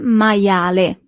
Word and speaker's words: maiale: You see, as we have seen with the alphabet, the letter I is pronounced as I, maia, and then the letter E at the end is always pronounced as E in Italian. Il maiale.